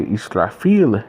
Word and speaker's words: Israfil: And right here, we have Israfel, or shall I say Israfil in how they pronounce it in Arabic, in Islam, the archangel who